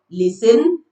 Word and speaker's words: listen: T is silent in some words after S.